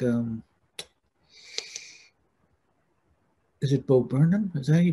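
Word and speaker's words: Bo Burnham: fun to have guys like um is it beau burnham is that he pronounced his name yeah bob brennan the star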